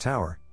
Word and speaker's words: tour: halfway through our 12-hour tour pronounced Tower we had pretty much